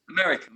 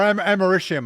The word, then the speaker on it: americium: Neptunium, Americum, yeah. Or americium, I think, is actually the way they pronounce it.